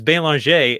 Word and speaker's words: Belanger: like you're an idiot like your name is bail on Shay and it's one of the most common names